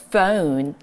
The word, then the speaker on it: phone: 우리 이렇게 생긴 거 그냥 폰 이렇게 하시면 원어민 같지 않아요. 우리 정말 제대로 발음을 해본다 그러면 조금 더 고급스럽게 O 발음을 O로 한번 살려서 읽어보도록 할게요. phone.